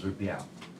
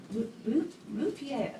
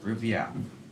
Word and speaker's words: Rupiao: My name is Rupiao. Rupier. Rupiao. Can't even spell it. Yeah. I got it. I started to write Rupier. It's like RuPaul.